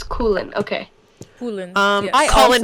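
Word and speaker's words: Coughlan: I was saying Coughlin, but it's Coolin.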